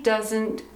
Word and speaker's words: doesn't: She doesn't cook. The pronunciation is crazy. The pronunciation sounds like this. Duh. Zint. Doesn't.